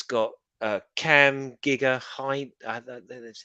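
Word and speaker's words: Gigandet: in it about and it's got a cam Giga High that's how you say his name very good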